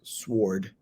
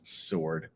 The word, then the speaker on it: sword: slender sword and you all know that's not pronounced sword right it's sword that that may be one of our easier